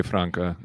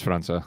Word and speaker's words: França: Because I want to say Franca and really badly, but it's probably not. It's the C with the little thing on the bottom of it. Oh, okay, so it's França.